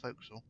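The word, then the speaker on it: forecastle: and that's flooded the entire bow now whole Folk's under remember kids the folk may it may be spelled for Cle but it's pronounced folkal um so that's the B right the way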